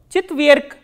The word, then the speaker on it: четверг: So, when a voiced consonant comes in the end, it is pronounced as its voiceless counterpart. So, what is the voiceless counterpart of g is k. Chitverk.